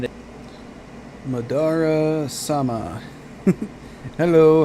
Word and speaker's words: Madara: It's Madara, not Madara.